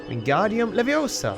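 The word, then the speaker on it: Wingardium Leviosa: never thought about that wingardium leosa wingardium levosa hey at least he pronounces it properly in this game they've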